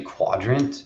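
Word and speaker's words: Qdrant: our docs um uh the vector DB is actually quadrant it's spelled QD a n t yep yes um but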